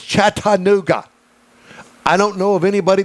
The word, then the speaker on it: Chattanooga: bustling metropolis of Cartersville, Georgia, between Atlanta and Chattanooga. There we go. Absolutely. That's where we are. You know, somebody had an argument. It's not Chattanooga. Okay. Then what is it? It's Chattanooga.